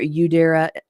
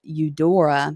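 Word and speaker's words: Eudora: right to the former Udera Odora, excuse me, that I did not mean to uh mispronounce her name, the former Odora Welty Library into the Margaret Anne Criggler Park.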